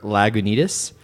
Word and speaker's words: Lagunitas: who got really upset at me ordering a lag Unitas when it's pronounced Lagunitas it sounds like a really shady place that's open after 2:00 a.m.